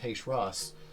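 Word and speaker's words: Heicher'as: wrestler his name is H Ross uh and he traveled uh in similar circuits uh how do you spell that uh h e i c h e r Apostrophe a s and that's which one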